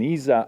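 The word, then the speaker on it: ESA: originally from Italy so I'm uh uh an Isa astronaut of Italian nationality that's that is the correct cor uh um pronunciation and um and so since 1998 there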